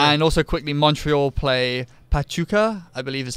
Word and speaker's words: Pachuca: And also quickly, Montreal play Pachuca, I believe is how you say it, in the CONCACAF Champions League on Tuesday in the first leg.